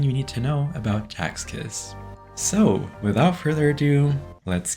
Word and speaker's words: Sechs Kies: Though their name is likely pronounced differently in German, or maybe even in English for that matter, I'll be pronouncing it as Sechs Kies in this series, similar to the Korean pronunciation.